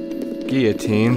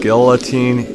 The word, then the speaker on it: guillotine: Guillotine Square. Also, if you pronounce it guillotine, you're a moron. It's guillotine.